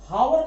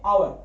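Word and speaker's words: hour: कैसे करते, उच्चारण कैसे, इसको हम हावर नहीं पढ़ते, हावर, ये देखो हावर, हावर अगर पढ़ते तो पहला अक्षर है था, हम अ लगा देते। इसको हम लोग पढ़ते हैं आवर, आवर, आ पढ़ते हैं,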